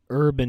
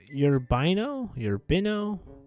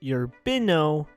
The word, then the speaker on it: Urbino: It's if I'm correct, it's pronounced Urbino, I'm gonna say it's Urbino, Italy. I could be completely wrong though, but I know for a fact it's not urban.